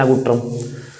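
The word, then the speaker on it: ngultrum: मुद्रा है सब भूटान की आपकी नगुट्रम मुद्रा है इसकी, आधा ला है इसमें साइलेंट रहता है, नगुट्रम।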